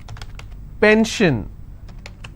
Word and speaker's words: pension: on gore s-i-o-n tension pension so how many syllables in tension 2 10 shin i will stress on 10 if i have pension i will stress on pen so basically wherever i